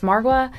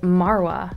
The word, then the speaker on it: Margwa: guy say this word, he's making it sound like the G is silent, and you can see GWA also in Margwa, so I don't think it's pronounced Margwa, I think it's pronounced Marwa, but I could be